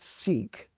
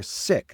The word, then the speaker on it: Sikh: They're not Sikh, they're sick. That doesn't mean they're ill, they're sick. That's how they pronounce the term.